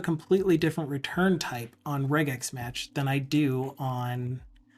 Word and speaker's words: regex: I always pronounce it regex. No, I used to pronounce it regex, but then I looked at it a little closer and I'm like, it stands for regular expression, so I leave it as a g sound. But you're not wrong pronouncing it that way.